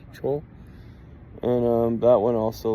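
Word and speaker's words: Chöd: ancient practice called Cho it's spelled like CH h o d the has two dots above it CH it looks like CH but it's Cho and um that one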